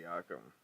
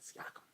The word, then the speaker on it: Siakam: That's how you pronounce it. Siakam. Yeah, Siakam.